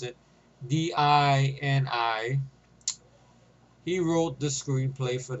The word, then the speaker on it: Dini: The story was written by Paul Denner. Paul Dini, or whatever he's pronounced it, Dini.